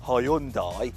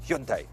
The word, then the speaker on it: Hyundai: Now, did you know that while us Brits say Hyundai, the correct Korean pronunciation is Hyundai?